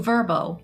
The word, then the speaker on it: VRBO: As we mentioned earlier, you can book a stay at Bristol Ferry Lighthouse through Verbbo, that's spelled VRBO, and also Airbnb.